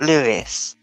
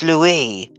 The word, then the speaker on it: Louis: George Charlotte Louie Louie Louie Louie Louis but it's not Louis it's Louie like the French one Louie.